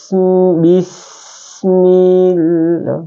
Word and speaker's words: Allah: Cara membacanya yaitu lafaz Allah ya, dibaca tipis, panjangnya 2 harakat. Jadi setelah kita baca bismil, bacanya tipis, bismillah ya, panjang 2 harakat ini ya.